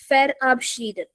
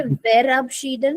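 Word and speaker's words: verabschieden: नाउ one thing the later the letter we here in German language it is pronounced as एफ फ सो we will not से बेबशीडन we will say फेयर अपशडन। फेर या इट इज फेर अपशडन।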